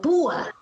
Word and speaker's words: púa: ¿Dónde está la fuerza de voz? En la U, ¿cierto? Púa. Ajá. Me hinqué, me lastimé con una púa. Púa, ahí está. Esta es la fuerza de voz en esta sílaba.